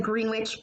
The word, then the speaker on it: Greenwich: through did you remember of Rhenish looks like greenwich but it's pronounced Greenwich England alright fact for the Pacific